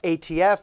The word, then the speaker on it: ATF: guy who doesn't know how to pronounce atf and calls it aft i don't trust the